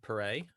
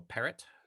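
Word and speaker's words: Perret: it's a guy called jean pereira or parrot depending on pronunciation and what was really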